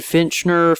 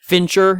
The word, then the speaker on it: Fincher: was was it david finchner fish however you pronounce his name fincher yeah like a finch but then um fincher